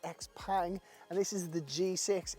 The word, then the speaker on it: XPENG: It is spelt XPENG, but actually it seems to be pronounced XPENG, and this is the G6.